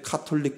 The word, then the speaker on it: 가톨릭: 그들은 읽을 때 카톨릭 신학대학교라고 읽지만 쓸 때는 가톨릭 신학대학교라고 어느 순간부터 정책적으로 확 바뀌었어요.